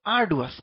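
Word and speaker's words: arduous: দেখো আর্ডুয়াস, খুব ভালো শব্দ। মানে বাংলাটা খেয়াল করো, মানে বাংলা উচ্চারণটা খেয়াল করো, আর ডু, মানে আর করতে ইচ্ছা করে না, এরকম হচ্ছে আর ডুয়াস, মানে অনেক কষ্টকর।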